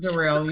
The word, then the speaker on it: Durrell: Durrell, am I pronouncing your name correctly? It's Durrell. You said it right.